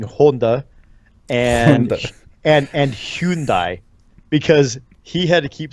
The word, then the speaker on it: Hyundai: But he's the one who got me saying Honda and Hyundai, because he had to keep saying stuff and saying that we said it wrong.